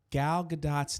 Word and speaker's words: Gal Gadot: I realized in my last video I was mispronouncing Gal Gadot's name, and everybody was trying to help me in the comment section.